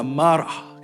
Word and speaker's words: Marah: Marah itu dalam bahasa Ibrani-nya kalau pronunciation-nya adalah marah gitu ya.